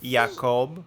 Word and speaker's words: Jacob: It's pronounced Jacob.